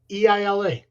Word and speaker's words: Isla: No, I think the S is silent. Why even have it? Mm. Why not just go Eila?